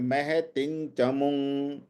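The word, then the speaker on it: महतिम्: बड़ी, आचार्य महतिं चमूम, महतिम, अब ये तिम नहीं है, यहाँ पे थोड़ा सा यंग का उच्चारण है, महतिं चमुंग, व्यूढ़ान, व्यूढ़ान द्रुपद पुत्रेण,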